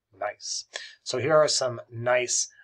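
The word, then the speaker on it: gneiss: high-grade metamorphism is nice it's pronounced nice g-n-e-i-s-s nice so here are some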